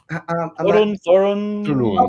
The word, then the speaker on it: Thorin: How do you pronounce it? Is it Thurin? Thorin.